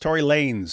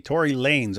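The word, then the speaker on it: Tory Lanez: So apparently people in the chat are saying his uh name is pronounced Tory Lanes. So it's Lanes and he just styles it with a Z. Tory Lanes.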